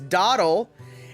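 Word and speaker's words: dawdle: spell dwaddle properly because it's not dwaddle it's dottle and that's how dottle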